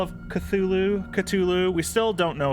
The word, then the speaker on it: Cthulhu: has anybody here played this game call of cthulhu ctulu we still don't know if it's cthulhu